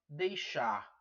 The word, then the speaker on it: deixar: Você vê que o verbo termina em R e você vê que ele passa a ser oxítono. Ou seja, a sílaba tônica dele é a última, que é a mais forte.